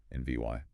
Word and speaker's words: environment: We navigated the fuel-efficient NVY arrangement. Remember that stress on the second syllable? NVY.